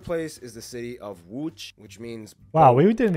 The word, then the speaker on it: Łódź: We totally called it Lodz. We would, yeah, Lodz. Łódź. Łódź.